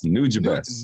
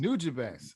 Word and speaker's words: Nujabes: Hey, real quick though, it's Nujabes. Nujabes.